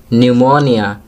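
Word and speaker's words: pneumonia: वाले वर्ड्स पड़ते हैं खबर निमोनिया रास्पबेरी पी कि इन सभी वार्डो में पी साइलेंट है अब सिलेब्रिटी वाले वर्ष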